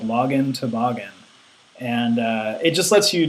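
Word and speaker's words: LoginToboggan: There's also a pretty common module called login toboggan. Like toboggan, like a sled. It rhymes with login. So the module is called login toboggan.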